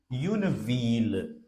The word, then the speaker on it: ville: But there are certain places where double L is pronounced like the, like V-I-double-L-E. Une ville.